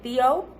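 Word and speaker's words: tío: do I mean so you don't say t-o you say Theo like V like how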